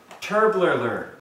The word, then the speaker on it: Turbler: And before I start, Brian, I have to clarify that he was very adamant about pronouncing his name Turbler.